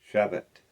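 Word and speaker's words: Shevat: English scripture calls it to Beth month 11 Chevet Zechariah 17 uh Chevet That is spelled s h e v a t.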